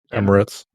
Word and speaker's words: Emirates: Emirates.